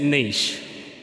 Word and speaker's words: niche: There's no T in there. We say it niche.